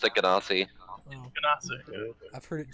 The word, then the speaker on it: Genasi: D&D Beyond says Ganassi.